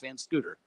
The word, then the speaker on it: Van Scotter: Oh, it looks like Van Scotter, but it is pronounced Van Scooter.